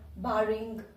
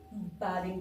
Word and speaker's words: barring: Like ऐसे नाम से ही ये पता चल रहा है, बार वन वर्ड है, बारिंग, BARRING. इसकी प्रोनाउंसिएशन भी सीखेंगे, इसको हम बारिंग बोलेंगे, ठीक है, नॉट बेरिंग, बारिंग.